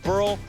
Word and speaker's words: Burrell: Burrell rhymes with Pearl, that rhymes with Benitez.